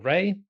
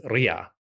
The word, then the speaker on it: Ra: These days, I mostly say Ra, but in the Ramessid era, so around the time of Ramesses II, we do have the cuneiform letters from the Hittite kingdom, which address Ramesses by name. And obviously his name includes the word Ra. And the way they spell it, or the way their syllable writing conveys it, is Ria.